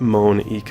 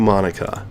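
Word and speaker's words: Monika: to begin with huh that's not how you say my name at all so her name is not Monique oh now also that made joke Thank You Monica oh never mind let's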